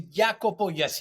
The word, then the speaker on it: Jacopo: it's almost uh Italian but my name is jakobo but it's perfect how you you tell you